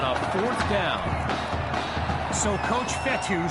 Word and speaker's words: Fetu: fourth down so coach fetty spelled fetu for the longest time i was pronouncing it coach fetta like feta cheese so let's just say